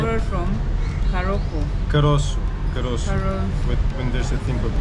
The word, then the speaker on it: caroço: Caroço. Caro. When there's a thing below the C, it's Sure.